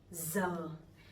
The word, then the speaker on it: giờ: This one is very easy for me because it sounds like Z sound in English. Giờ. So I'm from the north, I'm from Hanoi, so my pronunciation would be Z. But people from the sound, they would pronounce a little bit differently. They would say ya, ya, something like that.